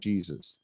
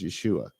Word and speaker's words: Yeshua: yeah yeah yeah we didn't have a j we have a sound of J there there was no Jesus there was in the first century there has never been a human being any from any place or any time named Jesus that did not happen his name was Yeshua and it wasn't whatever